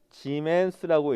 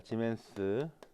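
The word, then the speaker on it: Siemens: 때는 뭐라고 읽거고요 s는 지멘스라고 있습니다 지멘스 근데 영어 지금 영어로 쓰다 보니까 scm라고 썼잖아요 그죠 근데 저거 읽을 때는 짐했습니다 왜냐하면 영어 발음이 아니라 독일어 발음입니다 그래서 지멘스라고 쓰셔야 되는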